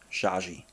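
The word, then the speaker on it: Xhaxhi: i that's how you spell it and it's pronounced shaggy and it's looking like chinese or something but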